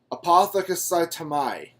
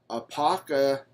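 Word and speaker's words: ἀποκαθίστημι: I looked at the Greek word for restore, restoration is, let me see if I can pronounce this right, apothekasaitamai. Wait. Apokathistami.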